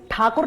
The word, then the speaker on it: ठाकुर: से, कौन थे रविन्द्रनाथ टैगोर? अंग्रेज ठाकुर नहीं बोल पाते थे तो टैगोर बोलते थे, रियल में रविन्द्रनाथ ठाकुर थे, वो ठाकुर नहीं प्रोनाउंस कर पाते थे तो टैगोर टैगोर।